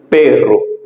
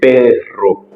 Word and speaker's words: perro: Soit dire tout perro, qui veut dire chien. Ou qu'à utiliser double R là et sous-prononcer, après c'est double R là ou utiliser perro, ouais, qui a une différence avec R douce là.